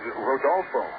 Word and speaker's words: Rodolfo: name isn't even rooting his real name is Rodolfo I think you got to roll your r's when you try that